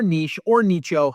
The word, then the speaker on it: niche: on a niche or nicho, however you want to say it. I say niche because it rhymes with riches are in the niches, and that's how I was taught it, but however you want to say it is cool.